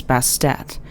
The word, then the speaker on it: Bastet: additional feminine suffix as Bastet. The name change is thought to have been added to emphasize the pronunciation of the ending T sound, often left silent.